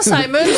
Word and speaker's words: Simons: maisons Simons à prendre ça se prononce vraiment Simons parce que Monsieur Simons, c'est vraiment son nom de famille. C'est une famille d'origine britannique ou écossaise, je ne me souviens plus.